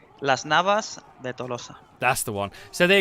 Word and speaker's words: Las Navas de Tolosa: Okay, in proper Spanish. Las Navas de Tolosa.